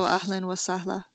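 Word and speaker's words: أهلاً وسهلاً: So you would only not pronounce the one that's at the end of the sentence, right? Yes. Yes. So ahlan wa sahla.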